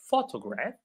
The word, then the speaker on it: photograph: So you will notice sometimes that even words that are related to each other like photograph and photography are not pronounced the same. So photograph photography right.